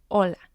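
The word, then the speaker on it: hola: is the second syllable remember that the H in Spanish is silent we have messes messes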